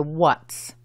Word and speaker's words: what's: Para decir qué es, decimos what's, que es la forma contraída de what is y se pronuncia what's. Simplemente agregas una seta inglesa al final y recuerda, es una sola sílaba.